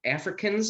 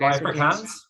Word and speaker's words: Afrikaans: know, like, one guy, Africans, I think is how you say it. He spoke Afrikaans. Afrikaans, yeah.